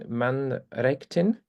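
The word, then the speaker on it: Mannræktin: Axel began his career by founding Mannrektin, is that right? Well pronounced, yeah.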